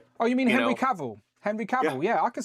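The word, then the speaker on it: Henry Cavill: It's Henry Caval everybody.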